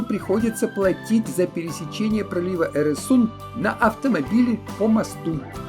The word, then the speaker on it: Øresund: Но дело в том, что эта буква в шведском и норвежском языках выпадает, по крайней мере, в конце слога. Теперь пошлину приходится платить за пересечение пролива Эресунд на автомобиле по мосту.